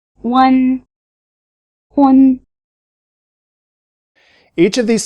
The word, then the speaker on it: hūn: One, hun. Listen again and notice that they rhyme. One, hun.